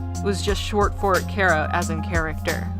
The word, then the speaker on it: Chara: Uh, Cara, like character. That's not That's how I I pronounce Cara's name.